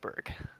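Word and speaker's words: Burgh: you so burgess i i felt stupid saying birth but that's how i would say that i i don't i don't blame you for that at all but i think we pronounce it berg all right but yeah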